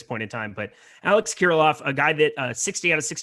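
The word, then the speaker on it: Kirilloff: back in the mix here eric's uh alex kiroloff man you'd think i'd be able to pronounce my own team's names here at this point in time but alex kiriloff a guy that a 60 out of 60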